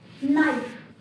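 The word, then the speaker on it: knife: Similarly word है date, नाइफ, तो नाइफ में के साइलेंट है, डेट में बी साइलेंट है।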